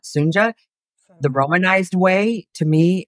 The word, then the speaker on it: Sunja: I mean, obviously, I do share some things with Sunja, and her name is pronounced Sunja, not Sunja.